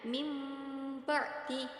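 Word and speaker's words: مِنْ بَعْدِ: yaitu itu mim ba'di di situ ada nun sukun bertemu dengan ba tetapi cara membacanya mim ba'di yaitu dengan dengan mengganti bunyi huruf nun sukun tadi menjadi huruf mim dan disertai dengan dengung contoh yang kedua yaitu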